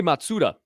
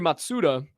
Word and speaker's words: Matsuda: yeah it's pretty cool oh yosuke matsura I didn't want to say it wrong yosuke matsuda is the name and he is the